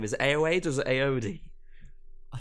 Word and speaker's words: Ayoade: He pronounces it Ayoade.